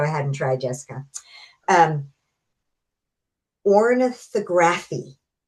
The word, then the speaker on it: ornithography: And so did I get it right or do you want to tell me how to really pronounce it? Did it? Yeah. Ornithography.